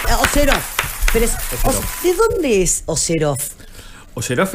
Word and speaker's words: Oseroff: Orsef, bienvenido. No, ¿cómo se pronuncia? Oseroff.